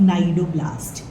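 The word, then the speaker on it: cnidoblast: a diagrammatic view of नाइड ब्लास्ट again C silent है इन सारी जगहों पे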